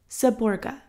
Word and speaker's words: Seborga: with cream pronounced gateau saborga pronounced saborga i live on a